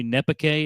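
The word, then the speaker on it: Nezpique: I think it's Bayou Nepake is how you say it.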